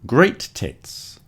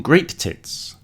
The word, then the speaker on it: great tits: these ones are called great tits. So, don't forget to put the stress on the first syllable there. Today, I saw some great tits.